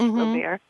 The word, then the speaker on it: Robert: His last name is spelled Ouimet, and Robert is like Robert, only in French, Robert Ouimet.